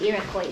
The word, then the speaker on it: Iroquois: No, it's Iroquois. Iroquois. This S is silent.